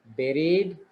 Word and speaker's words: buried: pronunciation of this word this is not bari this is berry a special word with you but it is pronounced as berry right buried mode destroy vinachakana destroyed